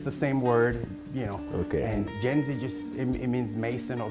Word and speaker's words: Mjenzi: Is that how do you pronounce Mjenzi. it? Mjenzi.